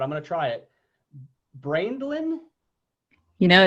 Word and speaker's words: Braendlein: that you couldn't read it's pronounced brand line brand line okay so now i